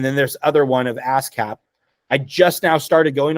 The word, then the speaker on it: ASCAP: ASCAP. ASCAP. It is ASCAP. That's how they say it in Nashville, anyway.